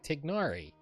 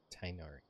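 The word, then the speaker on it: Tighnari: That was how I figured out how to stop saying Tignari. Because I legitimately mispronounced that name a lot. Tainari.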